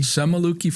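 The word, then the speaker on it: Semuliki: Semaluki Forest.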